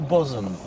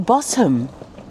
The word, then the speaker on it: Bosham: Is it Bosham or Bosham? Or Bosham. Well, apparently according to the internet it's Bosham. But it's spelt Bosham.